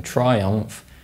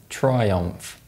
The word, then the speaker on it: Triumph: If you pronounce the M sound in Triumph and the M sound in Royal Enfield, you're wrong. That's because when these sounds are followed by the F sound, they're dentalized.